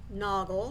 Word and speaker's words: Naugle: It is created by Christine NAUGLE. Now that's how I pronounce her name. It's N-A-U-G-L-E, but you may know it as a different pronunciation.